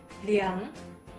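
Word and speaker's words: 两: 200 Merken Sie sich: für 200 sagen wir nicht "èrbǎi", hier wird 2 nicht als "èr" ausgesprochen Speziell für 2 bei Hundertern und darüber, Hunderter, Tausender und darüber, sagen wir 2 als "liǎng" Wiederholen Sie nach mir...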